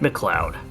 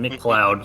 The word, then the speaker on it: MacLeod: Now, is it pronounced Jeff or Jeff? Oh, the C is silent.